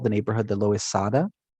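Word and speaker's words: Loisaida: By the late 60s, they called the neighborhood the Loizada, right? So kind of reflecting the Spanish pronunciation of the neighborhood's name.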